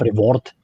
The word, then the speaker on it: Brevoort: breathe i think that's i think that's dutch so technique technically it will be reward or something like that because my parents know a bit of out of dutch a bit of flemish because they were raised in brussels so i think reward would be like the correct pronunciation dude how come stream